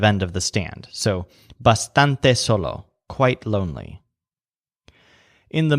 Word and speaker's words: bastante: stand there like that the word bastante whose stress syllable sounds kind of like stand means quite or quite